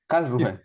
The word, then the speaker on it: Karlsruhe: Is Karlsruhe? Is it correct? It's Karlsruhe. Germany. Karlsruhe. Yeah.